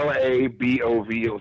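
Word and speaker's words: LaBove: it the V yeah la bo vo so it's like the word above would an L in front of it Carla bow that the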